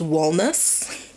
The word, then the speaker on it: vulnus: Fun fact, actually the letter V in Latin is actually pronounced with what we would assign to the letter W. So it would technically be pronounced walness.